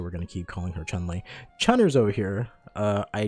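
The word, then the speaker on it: Chun-Li: guile right and then chunners or chunely which is I guess is the appropriate way to pronounce her name but you know American so we're gonna keep calling her Chun Li chunners over here uh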